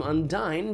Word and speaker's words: Undyne: Like, Undyne is an Undine, but you pronounce her name Undyne because it's supposed to sound like undying, as in Undyne the Undying.